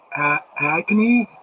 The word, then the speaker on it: Agni: It looks like it's pronounced Agni. I think Agni is what it looks like.